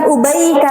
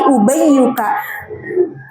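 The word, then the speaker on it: أُبَيُّكَ: Jaa ubayyuka bukan ubaika tapi ubayyuka kan tasir itu nanti maknanya enggak cuma kecil tapi ada kalanya untuk apa?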